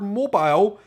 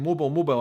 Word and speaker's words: mobile: The word mobile, you guys pronounce very differently. You call it mobile, right?